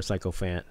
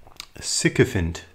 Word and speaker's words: sycophant: talk about what a psychophone is or a psychophant sycophant uh and what is how do you say it sycophant okay sycophant okay so so yeah tell me